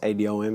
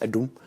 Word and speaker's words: Adom: It's pronounced Adom, it's pronounced Adom.